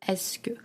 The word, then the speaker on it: est-ce que: The spelling is a little, tricky if you see it written. It's EST-C space QE, but the pronunciation of this letter is est-ce que.